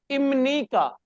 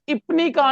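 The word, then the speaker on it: 입니까: सबसे पहले इसका ये रूल याद कर लें कि ये जो ग्रामर है इसकी मैंने प्रोनाउंसिएशन किया है इमनी का, इमनी का, यानी इपनी का नहीं हमने कहा।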